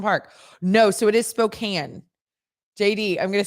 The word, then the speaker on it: Spokane: two are my okay anna was right it's spokane spokane washington i did not know that am